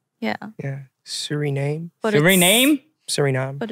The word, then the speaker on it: Suriname: Suriname.